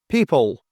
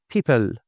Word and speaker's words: people: And this one people. So this is dark L. Most candidates say people.